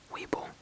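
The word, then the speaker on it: Webull: live they move around live you understand so Weeble you can trade on this app as well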